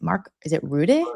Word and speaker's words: Rutte: I used to say root, and then I've heard everyone's like Rutte.